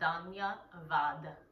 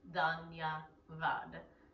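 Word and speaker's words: धन्यवाद: And the sounds are Danya Vad. So the Sanskrit spelling might be Dhanya and then Vad. Danya Vad, phonetically. When I'm grateful, I find grace.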